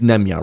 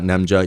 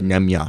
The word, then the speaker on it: Nemanja: It's Nemanja, right? Not Nemja. Nemanja. My apology if I had been saying that wrong, because I just found out with Serbian names, the J is pronounced with a Y sound.